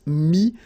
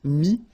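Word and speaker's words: mis: Mi, same advice here, don't pronounce the final S like we had here. T is not pronounced, S is not pronounced. Mi, mettre, to put.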